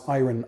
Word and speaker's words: iron: there when I say irony yes I'm from Eastern Canada here in Montreal and we pronounce ayran ayran I think Americans say it iron iron iron whatever you